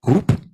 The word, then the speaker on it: HOOP: I just saw this nice project, which is pronounced in English Hoop. It also mentions Calibre. It's one of the European projects here from ITN in the Technology Park of Valencia. We're one of the partners in that project as well. The same word you can pronounce in Dutch, and it sounds then as hope.